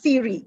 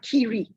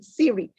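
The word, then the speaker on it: CIRI: introducing siri to you it is siri it's not cheery it's not kiri since it's our baby please pronounce our baby correctly siri it stands for center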